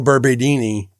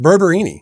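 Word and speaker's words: Barberini: Yeah, because you're thinking that like Urbano Berberdini, what? How do you pronounce his last name? Berberini. Berberini.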